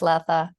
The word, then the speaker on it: Latha: have I got your name I hope I'm pronouncing that correctly le le Lea laa thank you very much laa yes becoming a new legal person as a